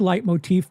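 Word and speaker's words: leitmotif: Uh it sounds like light motif but it's light like pronounced a little bit different.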